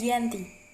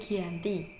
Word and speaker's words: Giyanti: yakni di desa Janti dalam pelafalan Belanda ia tersebut sebagai Yanti dan secara tertulis ia terbaca sebagai Giyanti tempat tersebut sekarang dikenal